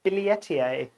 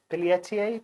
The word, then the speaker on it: billietiae: and they asked then she said no it's billie ettier billiertier billiertier instead of billie ti billyettier uh which